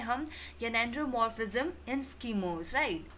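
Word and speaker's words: gynandromorphism: Friends, pronunciation आप इसको ध्यान दीजिएगा कि ये है जेनेंड्रोमॉर्फिज्म।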